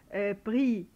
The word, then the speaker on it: pris: نشوف كمان حاله pris ou déduit, ce sont des participes passés, d'accord. alors des participes passés, là bien sûr on prononce ni S ni T, on les entend pas non plus.